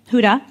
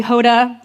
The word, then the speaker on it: Huda: People would call me Hoda, Honda, Hooters. Not sure how some of those names are similar to Huda, but I was done with it.